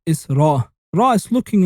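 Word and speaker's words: ر: Ra is looking like the tail of a rat, and you pronounce it almost like the R of rat, but don't say Ra, but Ra. You say R, R, R, Ra.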